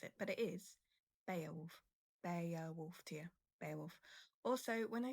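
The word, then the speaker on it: Beowulf: So this is pronounced Beaolf. Actually it's not Bowwolf.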